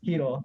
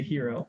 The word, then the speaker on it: Hiro: Like, it's a Japanese name, so I mean, if you don't know how to pronounce Hiro, you could say hero, but you won't be right.